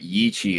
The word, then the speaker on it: Yi qi: To the members of our audience that don't know what Yi Qi is, I recommend you look it up. It is spelled y i space q i.